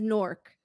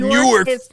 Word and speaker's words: Newark: It is pronounced by the locals as Nork.